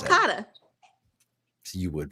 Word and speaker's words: Sulcata: How do you pronounce that? Sulcata.